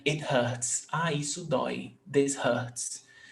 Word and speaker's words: Dói: Ah, isso dói. This hurts. Dói, monosyllable tônico ending in oi.